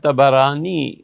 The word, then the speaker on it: طبرانی: گرامی ہے رحمہ اللہ۔ یہ اصل تلفظ طبرانی ہے، بہت سے لوگ اسے طبرانی بھی پڑھتے ہیں اور طبرانی بھی پڑھتے ہیں، لیکن اصل میں طبرانی اس کا تلفظ یوں بنے گا۔ اور امام طبرانی